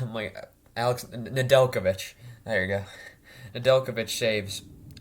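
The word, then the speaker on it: Nedeljkovic: uh fleury saves 31 out of 37 nov novechika i can't say his name my alex nadelkovich there you go adelkovic shaves 32 out of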